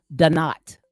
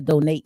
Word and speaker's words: Donat: I am back, and I apologize for pronouncing his name wrong. His name is Donat. Okay, the Donat Show. I'm saying the Donate Show is Donat Show.